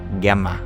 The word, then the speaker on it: Jemma: is such a relief it is pronounced with a hard G GMA I like that GMA